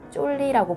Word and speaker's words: 쫄리: 톤즈 사람들은 신부님의 존 리라는 영어 발음을 빨리 발음해 쫄리라고 불렀대요.